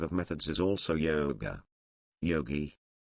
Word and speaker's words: Yogi: methods is also yoga Yogi hard G one trained in yoga